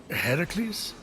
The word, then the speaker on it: Heracles: you doing there that thing with your voice heracles yeah that that is how it's supposed to be pronounced seems like a lot of work but